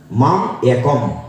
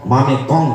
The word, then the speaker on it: মাম একম: আমরা উচ্চারণ কি করি? মাম একম, মামে কম না, মাম একম, একমাত্র আমার কাছে আত্মসমর্পণ করো।